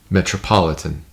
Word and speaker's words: metropolitan: Now I think it might be tempting to read that line and want to say metropolitan and really bring out the third syllable, as you might say in normal speech. But the surrounding meter requires you to slow down with this word, because otherwise it'll jar the meter.